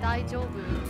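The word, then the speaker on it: 大丈夫: It's the way it's pronounced. The daijo, it is supposed to be a J, but a lot of times it's pronounced soft, so where it kind of sounds like an SH.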